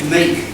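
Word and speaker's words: Meeke: It's Farah and Meek. Warwick Farah and Kyle Meek, with a silent E at the end. M-E-E-K-E. Farah, as in Farah Foods.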